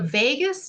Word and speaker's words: vagus: So let's talk about the vagus nerve. Spelled a little different than Vegas, like what happens in Vegas stays in Vegas. Pronounced the same. So the vagus nerve connects so many